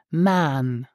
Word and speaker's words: machen: duhen willst du machen native speaker in cas situations pronounce machen like man man willst du man